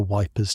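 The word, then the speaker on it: Ypres: Someone mentions the Wipers Times. a magazine put together by soldiers stationed near which everyone pronounces wipers because that's easier than the French way.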